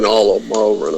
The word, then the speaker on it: Ranallo: Plus, Ranello, or however you say his name on SmackDown. Yeah. Mauro Ranallo.